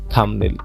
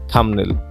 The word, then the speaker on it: thumbnail: এখান থেকে করবো কি, আমরা বি লেটারটাকে বাদ দিয়ে উচ্চারণ করবো। তো উচ্চারণ করলে কি হচ্ছে দেখো তো, THUM থাম, NAIL নেল, কি হচ্ছে থামনেল, থামনেল।